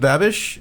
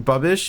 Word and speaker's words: Babish: been playing binging with babish or bubbish which whichever it is you said it right the first time babish babish okay cool benji